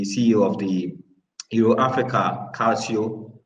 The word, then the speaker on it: Calcio: I also have Kathleen Arthur, who is the CEO of the Euro Africa Calcio. How is the pronunciation?